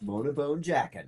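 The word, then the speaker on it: Mona Bone Jakon: First two albums were more UK, and his third album was Mona Bone Jacone or whatever it is. It's Mona Jackin. Is that how you say it? It's Mona Bone Jackin.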